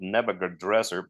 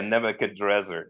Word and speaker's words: Nebuchadrezzar: Yeah, Nebuchadrezzar. Yeah, Nebuchadrezzar is actually the Babylonian pronunciation of it or something.